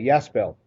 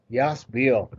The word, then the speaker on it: Yasbel: and then am i saying your name correctly yes bill yes it is very similar to this it's has been yes bill what a wonderful pronunciation thank you thank you